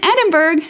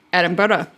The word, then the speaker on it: Edinburgh: a pre-release here in Edinburgh. So, I'm very excited about that. Excuse me, Edinburgh. Got to say it like someone who lives here.